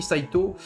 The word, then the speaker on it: Saito: ou un ou mais quand vous avez Saito que ça finit par O U on prononce Saito voilà ça je le